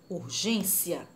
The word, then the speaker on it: urgência: Urgência. A sílaba mais forte é o gen. Então, ela é paroxítona, porque é a penúltima sílaba.